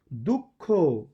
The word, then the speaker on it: দুঃখ: আমি যখন বলছি দুঃখ, তখন এই বিসর্গটা কয়ের মতো উচ্চারণ হচ্ছে।